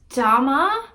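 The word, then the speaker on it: Daama: word but change like instead of saying damn she says damma like with an a at the end it's like i think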